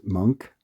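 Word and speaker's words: Moench: That's M O N C but pronounced Monk and drawn by the inimitable Paul Galaci.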